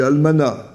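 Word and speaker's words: almanach: a c'est moins net Almanac ou Almanac euh c'est Almanac bon malgré le le CH c'est pas gravissime de dire un Almanac mais je dois dire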